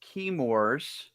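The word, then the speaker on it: Chemours: this is key uh I think it's pronounced keymors let's see what cut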